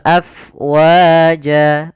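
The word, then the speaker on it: أَفْوَاجًا: Kemudian pada lafal afwaja ada huruf fa. Apabila ada huruf fa, dia memiliki sifat namanya hamas, yaitu mengalirnya nafas af, bukan ab, jangan ditutup, tapi af mengalir. Afwaja.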